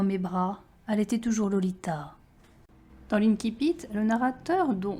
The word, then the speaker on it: Lolita: most Americans pronounce it, Lolita, with a heavy, clemmy L and a long O. No, the first syllable should be as in lollipop, the L liquid and delicate, the Li not too sharp.